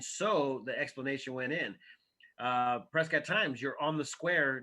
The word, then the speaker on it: Prescott: The other one was just Prescott, and it's obviously Prescott spelled like biscuit, Preskitt, and then Dawn Patrol.